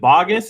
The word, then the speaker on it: Baugus: Is it Baugus? Is that the way to pronounce it right?